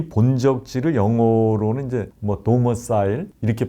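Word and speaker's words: domicile: 이 본적지를 영어로는 이제 도머사일, 이렇게 발음을 하던데, 도머사일이 있느냐?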